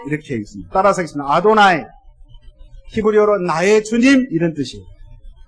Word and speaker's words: 아도나이: 그 발음을 못하는 것도 있고 또 잃어버려서 그 발음을 어떻게 해야 될지를 몰라서 아도나이 이렇게 읽습니다. 따라서 하겠습니다. 아도나이, 히브리어로 나의 주님 이런 뜻이에요.